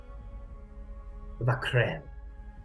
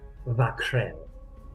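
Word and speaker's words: Vah'k'rel: Vakrel.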